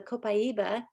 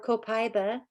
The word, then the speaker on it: copaiba: years ago now is the copaiba or copaiba it can be pronounced several different ways but it's an essential